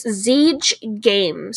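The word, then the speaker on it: Zeige: name of this game store yes it is siege games siege games in heartland michigan it's spelt z-e-i-g-e don't go anywhere there's more table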